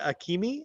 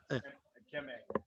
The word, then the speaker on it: Akeme: Is it Akimi or Akim? How do you say it, Brett? You got Akeme.